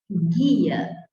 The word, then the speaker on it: guia: O GU e o QU só vão ser dígrafos quando este U não for pronunciado. Por exemplo, se você fala guia, ou então quero, Então, você não pronunciou o I, ou, aliás, o U de guia, porque você não falou guia, você falou gui, gui.